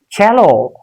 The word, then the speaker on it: cello: In these words have been taken from Italian language, Italy, and the pronunciation is not cello, it's cello.